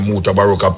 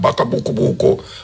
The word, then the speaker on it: Mutabaruka: People, the first time when I come on the radio and say my name Mutabaruka, people ridicule it. I name Mutabaruka, Buka, Baka Buku, and all this. What Mukubuko, and them knows what to say, you know.